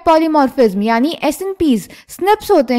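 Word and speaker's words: SNPs: DNA differences एसएन पीज single nucleotide पॉलीमोर्फस ज्म pronounced as स्निप्स occur in humans this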